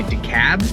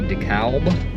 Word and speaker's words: DeKalb: about how it's said I think some people for sure up here just say to cab I think it's they completely skip the L but other people I think say DeKalb DeKalb DeKalb the cow